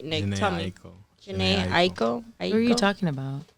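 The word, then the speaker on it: Jhené Aiko: Janae Aiko.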